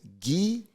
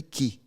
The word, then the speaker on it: gi: then right so kimono so the interesting thing is this ghee when it's used by itself should be key not ghee ghee is when you say Jude or dogi or keikogee so people just wear use key oh the the ghee no it's key right so we here utilize